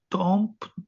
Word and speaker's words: temps: temps, temps d'un week-end, MPS. Wait. MPS all are silent. It's temps.